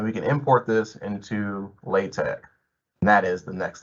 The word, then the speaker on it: LaTeX: The next thing we want to look at is LaTeX, pronounced LaTeX, which is a document preparation system for high quality typesetting.